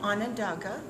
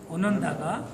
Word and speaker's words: Onondaga: Could you pronounce? Mohawk, Mohawk, Oneida, Onondaga, Onondaga, Cayuga, Cayuga, Seneca, Seneca, and Tuscarora.